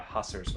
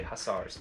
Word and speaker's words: hussars: here to intercept your your uh husters or you should say hussars i'm not trying to